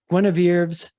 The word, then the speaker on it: Guinevere: Jesuses and John the Baptists and Lancelots and Guinevere's.